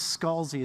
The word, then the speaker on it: Scalzi: Okay, so the thing about Scalzi versus Scalzi is that there is actually a deep and bitter family divide about which is Scalzi and which is Scalzi.